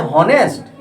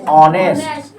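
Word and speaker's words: honest: हॉनेस्ट नहीं, ऑनेस्ट। क्या पढ़ते हैं? ऑनेस्ट। ऐसे ऐसे देखिए, ऑनेस्ट क्या पढ़ते हैं? ऑनेस्ट। क्या पढ़ते हैं? ऑनेस्ट। अब यहाँ पे देखिए, उच्चारण जो हो गया आपका, प्रोनाउंसिएशन जो हो गया आपका, वो अ से आ गया।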